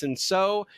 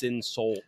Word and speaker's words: Cinsault: For Dallas, it's going to be SO. By the way, that is spelled C I N S A U L T. Soul. Soul. Um, but it's French, so um, and